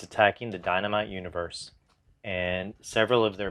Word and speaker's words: Dienamite: If you're familiar at all with the title Dienamite, spelled like die, D-I-E, Namite.